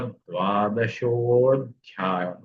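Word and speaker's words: द्वादशोऽध्यायः: और ये ओकार आया है, उसका विसर्ग का ओकार हुआ और अकार का अवग्रह हुआ, इसलिए उसका उच्चारण करते हुए अथ द्वादशोऽध्याय, द्वादशः अध्यायः ऐसा होगा।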